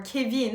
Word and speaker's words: Kevin: But it wasn't always this way, because Kevin, or Kevin as it's pronounced in French, was actually the single most popular name for boys born from 1989 until 1994.